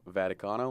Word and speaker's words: Vaticano: 3 4 4 and my full name is vaticano like the Vatican in Rome with an